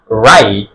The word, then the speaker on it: write: লক্ষ্য করি WRITE আমরা রাইট এরকম বলি না, কি বলি রাইট, র আই ট রাইট, রাইট। ডব্লিউ আর, ডব্লিউ এর পরে তাই আর আছে, কি হয়ে যাবে, ডব্লিউ সাইলেন্ট হয়ে যাবে।